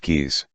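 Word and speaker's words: Caius: I applied for a research fellowship at Goneville and Caes College pronounced keys.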